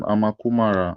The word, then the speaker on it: Amukamara: Please, can you pronounce that name? What do you say? Can you pronounce that name, Amakumara, right? Yeah, Amu Kamara. Okay, Amukamara. Thank you, my brother.